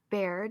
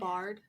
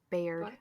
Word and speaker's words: Baird: Bard. It's Baird. Baird. I try to put like a pronouncer. Her name's fucking weird. Beulah Baird. The fuck? And I still messed it up. No, Beulah but like Baird.